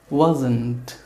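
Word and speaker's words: wasn't: ওরা আরেকটু দ্রুত কথা বলতে গিয়ে এর পরে যে ঠ সাউন্ডটা এটা উচ্চারণ করে না, কি বলে? ওয়াজন্ট। আই ওয়াজন্ট learning English, মানে ন পর্যন্ত গিয়ে ঠ কিক আউট হয়ে যায়।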